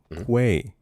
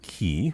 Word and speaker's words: quay: Quay. Yeah. One more time. Quay. Not key.